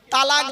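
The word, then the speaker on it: طلاق: ধর্মে স্বামী-স্ত্রী সংসার করতে গিয়ে স্বামী তার স্ত্রীকে তালাক দেয় তাই না আরে ভাই বলুন না শব্দটা কিন্তু তালাক নয় শব্দটা তালাক বলবেন না কেউ শব্দটা হলো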